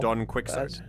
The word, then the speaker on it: Don Quixote: All I know is that it's actually pronounced Don Quixote.